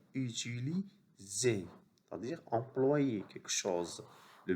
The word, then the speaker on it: utiliser: S entre deux voyelles se prononce Z. Et ER se prononce E. Utiliser.